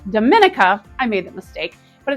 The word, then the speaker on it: Dominica: Now, don't get confused because this is not the Dominican Republic, and it's not pronounced Dominica.